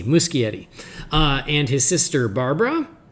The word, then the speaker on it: Muschietti: so it's andy muschietti so i've been saying mushy eddie but he i heard him say it himself so he it's a hard c musky eddy uh and his sister